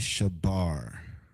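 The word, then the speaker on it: שבר: broke is Shabar Shaar. Um, you have your sha again, your ba and then your raid is banana.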